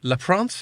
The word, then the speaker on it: Leprince: So I'm delighted to say we've got Igor Leprince. Is that how I pronounce it?